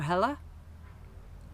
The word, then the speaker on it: Helle: The reason why I pronounce it in two different ways is that I mentioned this in an early video, is that I lived in California for 4 years when I was a teenager, and of course people pronounced my name Hella.